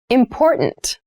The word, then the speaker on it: important: The pronunciation of this word, that first T, is actually reduced. It sounds more like a D in fast speech.